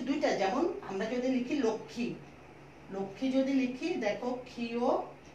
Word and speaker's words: লক্ষ্মী: ক মূর্ধন্য ষ ম, এখানে আমরা এই মটার উচ্চারণ কোনরূপ করব না, আমরা বলবো লক্ষ্মী, যেহেতু ক্ষীয়র উচ্চারণ আমাদের কয়ক্ষর মতো লক্ষ্মী বলবো, কিন্তু ওই যে ম থাকার কারণে এটা একটা চন্দ্রবিন্দু হয়ে যাবে, যেমন এটা হয়ে যাবে লক্ষ্মী, লক্ষ্মী।